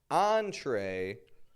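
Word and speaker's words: entrée: Entree is one of those words. Entree. We give it that French on and then tray, the kind of American sound.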